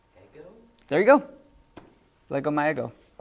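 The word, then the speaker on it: ἐγώ: You don't go ego, you go ego. You're putting more on the omega at the very end.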